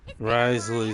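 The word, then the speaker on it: Wriothesley: Risley.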